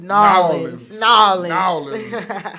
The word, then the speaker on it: New Orleans: No, you got to say it right. Nolans. N-A-W. Yeah, that's that Nolans.